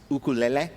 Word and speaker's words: ukulele: The correct Hawaiian pronunciation of the instrument of which you are a master is ukulele.